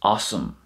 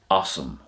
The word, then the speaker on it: asam: are associated with os, you wouldn't say os me. That's not the way it works. It goes like this: it's awesome. So os plus me is awesome, which means from me